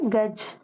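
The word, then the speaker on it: गज: இதுக்கு அடுத்த 3வது வார்த்தை கஜ். கஜ் அப்படின்னா யானை, கஜம்னு சொல்லுவோம்ல யானை. காவும் ஜாவும் ஜான்சிக்கு வர்ற ஜா போட்டிருக்கு. க ஜ, கஜ. கஜ்னா யானை. காவும் ஜாவும் தான் எழுதியிருக்கு. உச்சரிக்கிறப்ப இச்சுன்னு சொல்லணும்.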